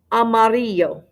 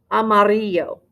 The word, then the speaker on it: amarillo: the word for yellow amarillo amarillo now those two ls make a y sound yes it looks like